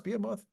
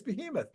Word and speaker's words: behemoth: is the sustainability bamoth is that how you pronounce bamoth I'm not sure in our opinion Behemoth be yeah I think you're right I think it's Behemoth yeah thank you oh